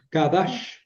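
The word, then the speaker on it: קָדַשׁ: Esa cof. A ver si la pueden pronunciar con la parte de atrás de la garganta, no como la CAF, ¿no? De qui, sino con más atrás, no sería Kadash. Kadash.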